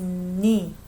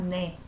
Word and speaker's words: 네: 네가, again, I pronounce it as 니, not 내.